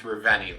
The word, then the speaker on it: Reveni: see you soon reveni pretty sure it's pronounced reveni labs for